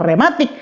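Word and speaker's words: reumatik: Demikian pun dengan rematik, bacanya memang rematik, tetapi tulisannya diserap dengan kata reu di depannya.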